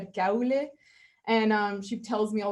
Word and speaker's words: Kuile: Elena, Sara, Miller, and actually Kuile, we've Americanized it, but it's actually Kuile.